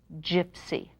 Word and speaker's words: gypsy: play is gypsy gypsy the gee sounds like J because it's followed by Y and the first y sounds like short I because it's surrounded by consonants and the last Y it sounds like a long e because it's at the end of the word and it's not the